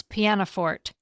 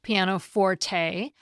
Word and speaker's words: pianoforte: A couple of weeks ago, I pronounced the name of a keyboard instrument as Pianoforte, and I did it on purpose after checking multiple dictionaries. I always thought it was pronounced Pianoforte, but I often check pronunciations when it's not